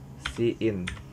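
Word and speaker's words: cin: kita baca dan juga si in kalau kita baca dalam besok bahasa Indonesia itu kan tulisannya jin di sini kita membacanya sebagai si in kita akan membahas lebih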